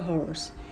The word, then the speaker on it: horse: A horse. यहाँ पर हमने a क्यों यूज़ किया? Because this H is giving its own sound, horse.